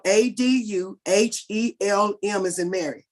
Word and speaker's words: Aduhelm: A is spelled ADUHELM as in Mary.